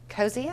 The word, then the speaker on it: Cozzia: bit because we are around this chair called cozia am I saying it right yes this is